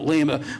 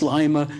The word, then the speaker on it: Lima: Pam schooled me on the correct pronunciation because I was calling it Lima when I first came up here, but it's Lima.